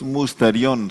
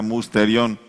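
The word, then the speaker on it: μυστήριον: La palabra misterio en griego es musterión. Se escribe así como suena, musterión.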